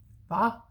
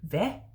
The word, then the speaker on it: hvad: Va. But today I've heard that the same spelling is pronounced differently. Young people today would say hvad, so with a flat A instead.